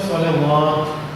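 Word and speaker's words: صلوات: ഇങ്ങനെ ഒരു സ്വലവാത്ത്. അപ്പോൾ നമസ്കാരങ്ങൾ ജമാണ്. സ്വലാത്തിന്റെ ജമ്മ സ്വലവാത്ത്. അപ്പോൾ വാവിന് മുകളിൽ ഫത്ഹ് ഉണ്ടെങ്കിൽ അത് ഉച്ചാരണം ഉണ്ടാവുള്ളൂ. വാവിന് മുകളിൽ അലിഫ് മാത്രമാണെങ്കിൽ വാവിന് ഉച്ചാരണം ഉണ്ടാവില്ല.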